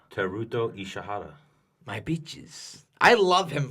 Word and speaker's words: Ishihara: How do you pronounce his name? Who? Ishira. Teruto Ishihara.